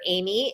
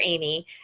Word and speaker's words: Aimee: And her name is spelled Aimee, Dr. Amy.